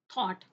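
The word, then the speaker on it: thought: Next क्या है, थॉट, next क्या है, प्लाव।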